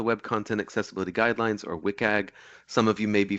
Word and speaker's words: WCAG: so um wcag often it it is often pronounced as wiag but you'll sometimes hear people say uh other things wag or wag um all of those are totally fine I say wiag um uh wiag was developed by the worldwide